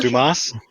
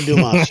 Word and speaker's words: Dumas: I know you're right is that how you pronounce it Dumas yes uh you sure Alexander Dumas yes I am exceptionally sure on that but